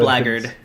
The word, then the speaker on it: blackguard: Blackguard. Really? Is that... Oh, are you sure? Yeah, it's pronounced Blackguard.